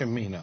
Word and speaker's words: Cimino: If I say his name, it is Cimino, correct? Yes, Cimino. Cimino.